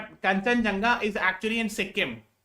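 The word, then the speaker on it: Kangchenjunga: ये है कंचनजंगा. एक्चुअली ठीक है, इसका स्पेलिंग ऐसे लिखा है कि थोड़ा सा आदमी डर रहा है, बट कंचनजंगा is actually in Sikkim, है ना, third highest mountain peak of the world.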